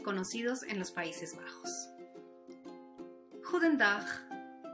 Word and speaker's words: Goedendag: La G, por ejemplo, suena gutural, fuerte y decidida. La combinación de vocales O, E suena como nuestra U hispana.